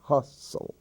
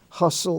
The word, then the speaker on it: hustle: l-e the la sound hustle that's an exception hustle bustle and rustle in those words the t is silent bustle a hustle bustle